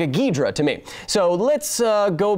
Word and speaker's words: Ghidorah: So let's hear just the correct pronunciation of Ghidorah here for a second. That sounds like a Ghidorah to me.